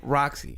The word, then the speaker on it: RaqC: __ ] yeah so how do you spell Roxy I spell it R AQ for my first name which is in Spanish and then my last name starts with the C so it's r a q c it's not that hard